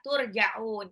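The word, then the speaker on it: تُرْجَعُونْ: Jadi bacanya bukan turja'una, tapi turja'un. Panjangnya 2 sampai 6 harokat.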